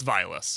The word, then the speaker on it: Vilas: It's Vilas.